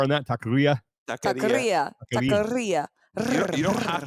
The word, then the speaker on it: taqueria: It's taqueria. Wait, did you just mispronounce it?